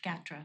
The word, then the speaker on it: GATRA: working on it okay it's GATRA sorry it's GATRA not Gator GATRA Gator oh I